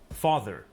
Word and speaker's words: father: Father, Father. car. Father. Car. Car. Notice that the final R sound is not pronounced in British English. Father ends in a simple schwa vowel, like father.